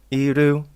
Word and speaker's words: Iru: How do I even pronounce this? Oh, okay. It's Iru.